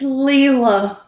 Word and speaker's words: Layla: was keeping because disabled it's leelah her name is layla keeps i know she does not spell names how they are pronounced apparently has to keep